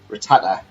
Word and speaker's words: Rattata: Shreddy pronounces it as Rattata.